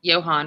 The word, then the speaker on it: Johann: dreams of attending, is Johann, right? Am I saying it right? Johann from Johann Sebastian Bach.